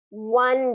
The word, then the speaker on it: one: One day. One day actually has that W on one. Okay, it's one day, one. Yeah, one. So it's like I won a prize is more of how it's pronounced.